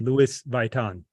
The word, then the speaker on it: Louis Vuitton: So clearly you're from Montreal because I pronounced it Louis Vuitton.